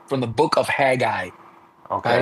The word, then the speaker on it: Haggai: So I think in English it's pronounced from the book of Haggai, Okay.